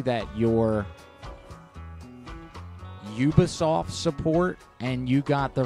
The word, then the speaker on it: Ubisoft: I thought it was Unisoft. But I thought it was too. Let's see. Unisoft. UBI. Oh, yeah. Ubisoft. Ubisoft, boy.